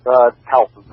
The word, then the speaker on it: Towson: Well, did I pronounce Towson right? Yes, Towson.